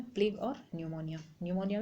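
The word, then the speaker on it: pneumonia: है प्ले और निमोनिया निमोनिया में पीस साइलेंट होता है ओके तो पीपीपी यानी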